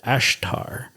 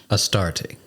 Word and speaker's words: Astarte: It was a significant city in Bashan, likely linked to the worship of the goddess Ashtar. Astarte. Who is actually Ishtar. That's why I mispronounced that. But Astarte.